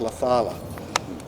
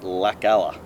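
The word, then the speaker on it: Laucala: And it's pronounced La Fala. So I'm going Lakalla.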